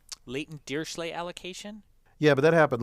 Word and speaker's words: Dirichlet: D, you can think Dirichlet. Which is the computer science pronunciation. Other people pronounce it differently. Yes, because the correct way of pronouncing it is sort of beyond it has another syllable in there.